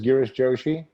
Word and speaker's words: Girish Joshi: you for having me here yes you did pronounce my name correctly my name is girish joshi i work for geospatial media as the regional